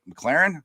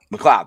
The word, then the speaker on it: McLeod: I want to say his name wrong. McLaren. Is that how you say his name? Or am I saying it Nick McLeod. McLeod. Thank you.